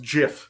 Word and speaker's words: Giff: Yankee today no Jesus it's pronounced Jiff sorry that should be